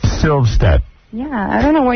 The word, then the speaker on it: Silvstedt: It's Vilstedt? Yeah, you said it wrong. How is it? Kick you there. Silvstedt. Silvstedt.